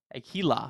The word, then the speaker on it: Aquila: For the record, it's Aquila. Aquila.